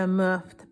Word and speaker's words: MUFT: And the first one is going to be the Muft pen, and this one is pronounced M-U-F-T, and it's their freebie, so we're gonna go easy and then go from there.